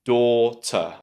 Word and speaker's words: daughter: But try to think about that first syllable as door. So the beginning of the word should be door. Yes, that's right. Just like the thing you open and close to enter a room, door, daughter. And then the last part